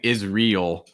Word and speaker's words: Israel: einstein um israel israel it's like is it's almost like saying israel is like israel um english we mentioned already